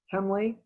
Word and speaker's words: Hemley: You'll notice a little later on the triple arch entry loggia, hip roof, was designed by architect Frank J. Hemley. That's how I pronounce his name correctly.